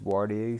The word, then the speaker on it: Waareya: what where is it yeah it's pronounced warty so let's go it